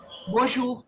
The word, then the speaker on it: bonjour: Bonjour. Okay. So here what happens is the R sound should come from your throat. So you HAVE TO SAY BONJOUR IF YOU want to speak as a native.